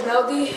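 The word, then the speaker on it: Neudy: My name is Neldy. Neldy. Spell it. N-E-U-D-Y. N-E-U-D-Y. So it's Naughty or Neldy. Neldy? It's pronounced Neldy, but there's no L because it's pronounced in Spanish.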